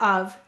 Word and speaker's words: of: word with the word of the f is saying the sound now the o is saying it's schwa sound and of is one